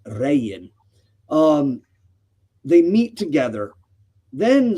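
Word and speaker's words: Regin: Uh, here it's spel it's spelled Rean but or Rean but it's pronounced Ran.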